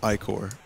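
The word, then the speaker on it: ichor: I can fill it with magical ior that's pronounced ior choose your iore wisely Invincible absorb nearby treasure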